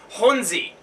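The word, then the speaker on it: Jónsi: from the lead singer from Seoros, but it's Hunzie. Oh, really? That's how you say it. for for lack of a better, you know, us being named I win that we are, we're gonna just call him Jonesy from now on because it's probably easier and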